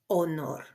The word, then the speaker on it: honor: I also wanted to highlight that la letra H, it's mute. It doesn't have a sound in Espanol, la letra H.